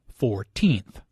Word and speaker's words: fourteenth: first second and third the stress is on the second syllable 14th compare this with 40th